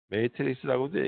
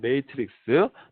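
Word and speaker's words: matrix: 또는 매트리스라고도 얘기해요. 자, 이거 우리나라 사는 매트리스라고, 영어 사전에도 매트리스라고 나오는데 매트리스는 이 침대에 가는 거고 매트리스라고 하는 거에 발음이 조금 더 어울릴 것 같아요. 매트릭스 또는 array라고 얘기한다.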